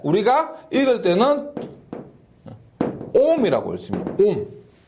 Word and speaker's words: 옴: 오메가 읽은 게 아니고 옴이라고 읽습니다.